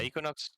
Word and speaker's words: Aequinox: that pronounce that correct yeah equinox equinox is pretty much uh uh correct okay awesome awesome awesome